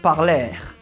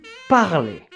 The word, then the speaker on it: parler: group so let's continue when you see the letter e next to r at the very end of a word you have to pronounce it as e you see it's not parler it's parley to get more information